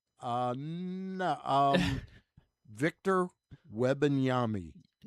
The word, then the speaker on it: Wembanyama: Um Victor Wembanyama. No. Yama. No. That Wembanyama. Uh you still missed the middle part of the syllable, but yeah, that was close. Wembanyama.